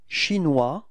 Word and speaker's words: chinois: So O-E-S, final S is not pronounced, wa, was, okay, chinois, repeat, mm-hmm.